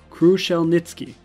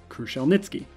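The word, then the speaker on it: Kruszelnicki: oh wait he actually told us how to pronounce it nice kruschel nitzki kruschel nitzki thank you doctor in this article crucial nitsuki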